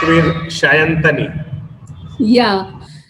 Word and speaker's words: Sayantani: the correct way is Shayantani. Yeah. So in Bengali, we use this so as a sh. We write S, but we pronounce as in sh. That way, it's Shayantani. The typical Bengali one is